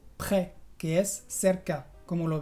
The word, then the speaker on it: près: Sí, por ejemplo, en las palabras très, que es muy, o près, que es cerca. Como lo ves, la S es muda y yo pronuncio près, très.